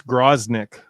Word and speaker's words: Groznik: It's Groznik. Groznik. It's kind of like Grozny, which is in Chechnya, and I think there's some reference to like the style of the fighting to the Chechen War.